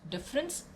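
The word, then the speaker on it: différance: very playful and interesting he coins an entirely new word pronounced difference but with an a there's a french term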